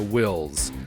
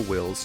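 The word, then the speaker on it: Whills: differently than we do i call them the wills and it's spelled w-h-i-l-l-s and the wills are the ones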